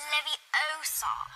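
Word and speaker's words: Leviosa: someone's eye out besides you're saying it wrong it's Levi Oar not Levi Oar what was the difference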